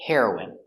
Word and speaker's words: heroine: The pronunciation is the same. The drug heroin and the person heroin. Hero is for a boy and for a girl we say heroine. It's a girl hero.